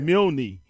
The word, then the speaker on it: Milne: Well, in New Orleans, Milne Boys' home was not too far from where I live, but they pronounce it Milne in New Orleans, and as well as there's a Milne Boulevard in Lakeview.